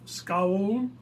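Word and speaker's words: schaal: our combined Dutch Heritage the bowl is named scowl which does not mean scowling but is translated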